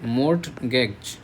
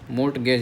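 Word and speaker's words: mortgage: मैज म गेज याद करो। मज नहीं मर्ट गेज। एम ओ आर टी हो गया म और जी ए जी ई म गेज।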